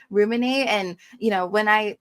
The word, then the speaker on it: rYOUminate: So, it's just humanate. And there's like a lot of exercises that I have to do. Um, even branding wise to let people know that it's pronounced just like the dictionary word ruminate.